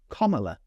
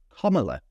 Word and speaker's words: Kamala: To say this name, we say Kamala. Kamala. She is Kamala Harris.